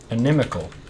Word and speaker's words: inimical: Inimical. Inimical, yes, that's the word I was looking Like for. enemy. Quite Inimical. kind of. It's actually spelled with an I, so it's inimical.